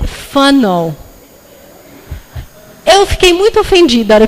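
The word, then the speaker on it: whānau: Alguém quer chutar como é que será que pronuncia isso? Wanau, não é? É funnel.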